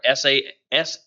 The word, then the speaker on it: SaaS: these, the three main cloud service models are SaaS, PaaS, and IaaS. And that's software as a service. The way I pronounce it is SaaS, PaaS, and IaaS.